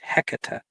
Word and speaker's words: Hecate: So actually, I believe the correct pronunciation is Hecate.